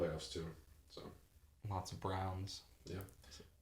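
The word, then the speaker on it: Braun: lots of Browns yeah it's just weird because his like spelled like brawn oh really yeah it's spelled it's brown it's about like b-r-a-u-n it's really weird I thought it was Brawn but then the announcer was saying Brown I was like for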